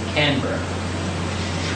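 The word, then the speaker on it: Canberra: pretty much it um the pronunciation for the capital of Australia is canra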